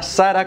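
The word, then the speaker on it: Zara: El dueño de Sarah.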